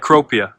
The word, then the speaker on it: Cecropia: And it's pronounced cropia.